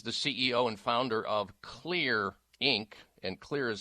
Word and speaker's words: Xlear: He is the CEO and founder of Xlear Inc., and Xlear is spelled with an X, X-L-E-A-R.